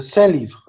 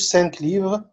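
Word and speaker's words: cinq livres: برضو على فكره اوكي هنا الكونسون هي اللي ما ننطقهاش هنا ما ننطقهاش او نو برونونس با والعكس هنا هنا بنقول وهنا اون برونونس يعني هنا بقول سان ليفر اوكي سان ليفر او سي ليفر ما بقولش سانك ليفر اوكي وبقول سي ليفر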